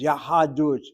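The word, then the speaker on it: יהדות: closed syllable is irregular, so it's clear that the accent will be on the last syllable. But the last syllable sounds like two syllables. Yahadut, Yahadut.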